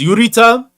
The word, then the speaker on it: Urita: Cuz Urita obviously is the pronunciation, but I get Eureka every time.